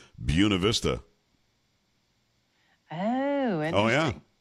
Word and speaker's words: Buena Vista: The name of the city, Buena Vista. was Vista? Buena Vista, but we would say Buena Vista. And if you said it wrong, you sound like you weren't even from there.